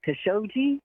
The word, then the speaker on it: Khashoggi: pay the journalist names it khashoggi cuz it's it's a heart I believe it's a hard G that's how Bob ney pronounced it he used to live in Saudi Arabia so I'm gonna go with his pronunciation cuz shogi hey shogi